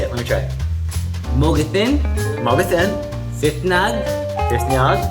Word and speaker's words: Mogethin: Mogatin, fitngag Mr. Wait, what was that? Oh, that means hello, my name is Mr. in Yaquis. How do you say it? Let me try. Mogatin, Mogathin, fitnag, Fifnyag, a.